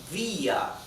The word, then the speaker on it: vía: Okay, and since the intonation, the stress is on the letter I, vía. Therefore, letter I carries the tilde again.